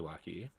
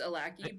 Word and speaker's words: Alaki: It's so nice to meet you, Lucky. Is that how you say it? Is that how you say it, Lucky, or, like, Alaki? It's Alaki, but in this town,